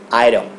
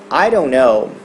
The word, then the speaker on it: iron: vai falar Ah então a gente costuma falar Airon Airon não Iron Iron Now if that is such a great